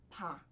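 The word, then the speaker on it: 바: Com a vogal A, essa consoante tem a pronúncia de pá, pá. Veja que não é ba, nem pá, é pá. Então, lembra bastante o B e é como se você fosse pronunciar o B, só que soltando o ar, certo?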